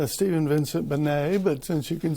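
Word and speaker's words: Stephen Vincent Benét: me b-e-n-e-t yes i'll take that typically it's pronounced stephen vincent bernay but since you can spell it i'm giving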